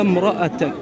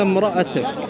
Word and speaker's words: امرأتك: So there's a dhamma here. There's a dhamma there. Okay. So when you say when there's a dhamma, you get an u sound, right? Right. It's a vowel indicating. Oh, so you understand what I'm saying, yeah? I do understand. Right. So it's like a u.